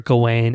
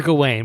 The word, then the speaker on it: Gawain: Anyway, Sir Gawain, which I think is the understood modern pronunciation, but hey man, go off.